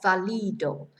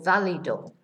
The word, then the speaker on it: válido: Notice where the accent is on the first day, on the only A, in fact, which gives us the stress on the beginning of the word, right? Not valido. So valido.